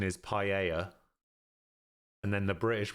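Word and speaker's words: paella: my YouTube okay so in Spanish it's also pronounced paa in English apparently it's just Pella my compliments to the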